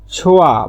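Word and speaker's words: 좋아: ছোয়া ভালো, ছো মানে ভালো আর হিউতের পর ইয়ং আসলে হিউতের উচ্চারণটা হয় না, ছোয়া ভালো, তাহলে আবহাওয়াটা ভালো।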